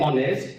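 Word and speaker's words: honest: नेक्स्ट word है एन ऑनेस्ट, एन ऑनेस्ट जो है एच वो साइलेंट है और ओ जो है वो वावेल है, तो हम ओ से कंसीडर करेंगे, एच साइलेंट है, इसको नहीं पढ़ेंगे, एन ऑनेस्ट है।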